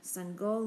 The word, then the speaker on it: Sangoel: When he frowned at the paper, Seng go knew whose name he would call next. My name is Seng go, he said before the coach could say it wrong.